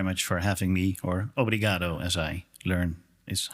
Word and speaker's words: obrigado: Thank you, first of all, very much for having me, or obrigado, as I learn is how you say it here.